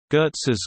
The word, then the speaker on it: Goetze: Goetze's Candy Company, Inc., pronounced Goetze, is an American confectionery company based in Baltimore, Maryland and specializing in caramel-based candies.